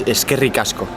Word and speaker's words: eskerrik asko: in the whole world, but like the pronunciation can be easier for Spanish people. Okay. So this one is eskerrik asko.